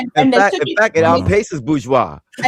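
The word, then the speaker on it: bourgeois: It's bgeoa.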